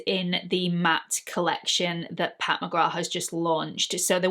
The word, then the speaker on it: Pat McGrath: time so it's not pat mcgrath apparently the th is silent it's pat mcgrath who knew anyway so